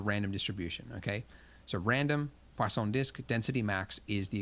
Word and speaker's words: Poisson: called poisson disk distribution poisson there's no W in it but I was told that that's how you say it I guess it's French when we use this